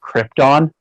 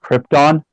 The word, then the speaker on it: Krypton: had the audacity to tell Marlon Brando it's pronounced Krypton, because he's an Oscar award-winning actor. They're like, excuse me, Mr. Brando, it's pronounced Krypton.